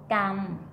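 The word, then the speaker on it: กรรม: Okay, we learned the word gam, like gamma. Gam.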